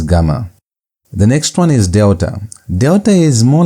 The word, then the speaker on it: delta: So this is delta. Delta is pronounced uh as D as in the word done.